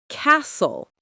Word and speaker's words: castle: You don't pronounce the T at all. It disappears. Common examples: listen to listen. often to often. Castle to castle.